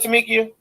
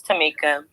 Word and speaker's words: Tamika: Did I say it right, Tamikia? No, it's Tamika.